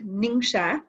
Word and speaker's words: Ningxia: Okay, so Ningxia Red, it's pronounced Ningxia.